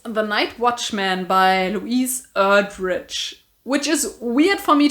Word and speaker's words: Erdrich: night watchman by louise erdrich which is weird for me to say because her last name is very german sounding and me pronouncing it this kind of english way feels super wrong but i guess that's